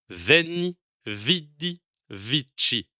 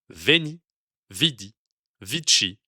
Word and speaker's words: Veni, Vidi, Vici: Ainsi, cette lettre devrait se prononcer OU, mais le son U est tellement ancré dans la prononciation française que le latin ecclésiastique, à la française, l'utilise alors que le son U ne devrait pas exister en latin. Ceci donne une langue particulière à la France.